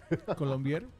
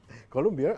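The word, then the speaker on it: Colombière: Colombier. Colombier, así uh-huh.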